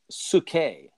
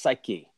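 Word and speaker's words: ψυχή: down every person that that word person is sookay or you might have heard it pronounced psyche in Greek which is your soul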